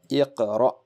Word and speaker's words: اقرأ: If the hamza on which there is a jazm will be pronounced abruptly, very fast. Iqra, iqra.